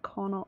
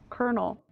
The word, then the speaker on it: Colonel: do some missions, then pass you over to Connell. I went to the dam to speak to the Connell. How do you say it? I think I have to go back to Vegas to talk to the Colonel.